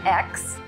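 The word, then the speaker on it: Aix: It takes place in X. I had to look that up how to pronounce that. X, although the characters say it many, many times.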